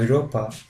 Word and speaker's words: Europa: A and U always takes a sound oi. For example, Europe, the German way, or Europa, or the country we're talking about, Germany.